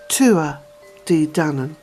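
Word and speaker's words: Tuatha Dé Danann: And also the pronunciation of what is written as Tuatha De Danann, the pronunciation is Tua De Danann. Tua De Danann.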